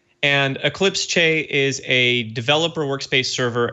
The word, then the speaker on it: Eclipse Che: You're pronouncing it absolutely correct. And Eclipse Che is a developer workspace server and a cloud IDE.